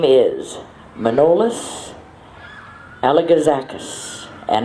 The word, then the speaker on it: Manolis: His name is Manolis Alagazakis, and I believe actually it's pronounced Manoli, but I say it's Manolis Alagazakis.